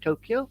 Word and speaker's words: Tokyo: Place weird I mean we're in the west say Tokyo where it's in Japanese Tokyo and it goes up at the end not down pitch the way you